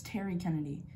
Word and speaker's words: Terry Kennedy: Like your Terry Kennedy? No, you're saying it wrong. It's Terry Kennedy. You said Derry. I said Terry. No, I heard a D.